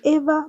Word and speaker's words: Eva: My name is Eva, pronounced Eva, but spelled EVA.